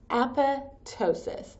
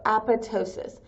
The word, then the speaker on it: apoptosis: cell death is called apotosis so that PT the p is silent like pterodactyl so apotosis apotosis is a common form